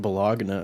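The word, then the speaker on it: bologna: know how to spell with the G in it it is pronounced balana and other places though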